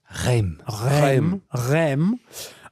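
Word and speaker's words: Reims: how do you say it Charlie Rem but again this is um in in territory that is uh controlled by the English.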